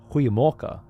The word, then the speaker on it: Goeiemorgen: Guten Morgen always fucked me up in Dutch because it looks so similar written out, but it's actually pronounced, depending on where you are from Holland, it's pronounced very differently. And initially I was saying like Guten Morgen with the hard G, but it turns out that the pronunciation where I was living was Goeiemorgen, which is completely different to what I thought.